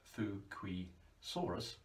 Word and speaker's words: Fukuisaurus: node from Japan from Honshu Island Fuki Soros pronounced fukrey Soros it was only relatively small for this type